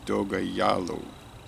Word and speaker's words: Dogajolo: shows Doga Jolo but they're showing a pronunciation here they got in parentheses Doga yalo do yo uh in